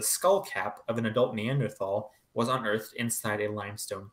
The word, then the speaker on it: Neanderthal: Now, the name Neanderthal, sometimes pronounced Neanderthal, I tend to prefer the former, comes from the Neanderthal Valley in North Rhine-Westphalia in Germany.